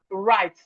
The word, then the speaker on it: write: We have right. The W in right is silent.